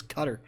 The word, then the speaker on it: Qatar: from goddamn I believe I believe the correct the correct pronunciation is cutter.